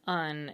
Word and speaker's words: an: ah vowel was shortened, so that an was pronounced more or less as un, as it still is today, when we're not thinking hard about how to pronounce it, an apple.